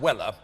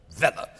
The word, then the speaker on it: Weller: mr pickwick's inimitable servant sam weller or vela the pronunciation is all according to the taste and fancy of the speaker as sam put it